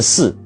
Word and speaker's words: 呬: 怎么念，其实他念视就像风吹过竹林的那种声音，细细的